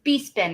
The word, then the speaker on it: Bespin: Is it pronounced B-spin? It's B-spin, right? Bespin. It's B-spin. Oh, not respin.